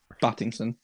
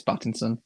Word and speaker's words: Pattinson: it i think robert pattinson is going to prove a lot of people wrong i thought so get it right battington it's pattinson okay battinson um we